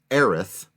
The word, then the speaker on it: Aerith: And so spelling phonetically what I do believe is the canonical English way to say her name, Aerith, which I also think is very beautiful and